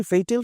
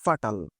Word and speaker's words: fatal: এটাকে অনেকে উচ্চারণ করে ফাটাল যা হোক এটা উচ্চারণ এর ক্লাস না ফাটাল উচ্চারণ না এটার উচ্চারণটা হচ্ছে ফেইটাল যার বাংলা হচ্ছে প্রাণঘাতী